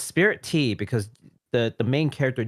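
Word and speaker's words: Spiritea: called spirit t it's it's like spirit and tea but it's like meshed into the same word but it's definitely pronounced spirit tea i had to look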